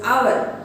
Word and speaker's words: hour: In the third sentence, an is used before our because the letter H is silent, so the word hour is pronounced as hour.